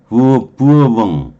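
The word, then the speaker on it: Bourbon: 버번이 부르봉이에요. 부어봉 이렇게 되잖아요. 부어봉. 불어로 발음하면 그렇게 된대요.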